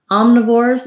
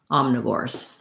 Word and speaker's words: omnivores: stressed again herbivores all have first syllable stress omnivores that letter o like we've seen in a couple of words so far in class letter o is often ah when it's in the stressed syllable so um no and